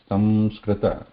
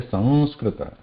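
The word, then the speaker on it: संस्कृत: So if we pronounce it as ma, samskrita, there you can hear that ma, some, you are using those lips, some touching each other, samskrita, samskrita. But when we say Sanskrita, we are not touching the lips, right?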